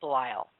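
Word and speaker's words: Belial: And this demon's name I will spell it. It's B E L I A L. It's Bile.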